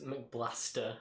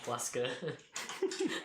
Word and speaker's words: McBlaster: I don't know if it's too late to say this, but it's McBlaster, not Yeah. Blasker.